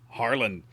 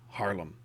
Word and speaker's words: Haarlem: tier viii dutch cruiser h and l ms harlan harlem harlem yeah that's right i think i think i